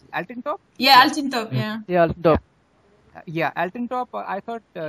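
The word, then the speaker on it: Altıntop: And Hamid, how do you pronounce it? Altintop? Yeah, Altintop.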